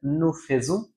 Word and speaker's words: nous faisons: উচ্চারণ হয় একার, কিন্তু এই একটা মাত্র জায়গায় যেখানে হচ্ছে আ ই এর উচ্চারণ হয় ওকার। তার মানে একমাত্র ফেয়ার ভার্বের নু এর কনজুগেজো করার সময় আমার উচ্চারণ করতে হবে নু ফোজু।